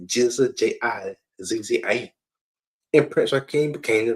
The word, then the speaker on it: GZA: The Genius became the GZA, pronounced G-I-Z-Z-A.